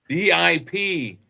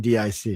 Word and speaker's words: Diplodocus: Is it DIP or DIC? DIP. Okay. Because it sounds like you were saying DIC.